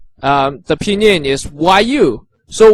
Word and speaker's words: 语: So 语 the pinyin is YU. So Y pronounced Y, and U doesn't really pronounce U